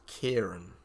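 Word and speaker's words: Ciarán: Some say it's little dark one, but that's usually phonetically it's said as Kieran when it says little dark one.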